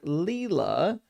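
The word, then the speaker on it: Lila: Uh, pronounced like Leela, the Sanskrit word meaning divine play, a dancer of the universe.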